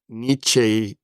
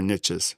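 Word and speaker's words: Nietzsche: I just listened to a whole debate on how do you actually pronounce his name? So, I'm not gonna get into the debate, but like niche is sort of how I've heard it, but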